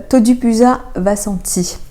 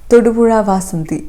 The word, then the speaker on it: തൊടുപുഴ വാസന്തി: തൊജിപുഴ വസന്തി. തൊടുപുഴ വാസന്തി. ഴ എന്നുള്ളൊരു ഉച്ചാരണം ഫ്രഞ്ചിലില്ല. അതുകൊണ്ടാണ് Z-ഉം H-ഉം ഒന്നിച്ച് വന്നാൽ സ തന്നെയായിരിക്കും പറയാൻ ചാൻസ് ഉണ്ടാവുക. തൊജിപുഴ വസന്തി.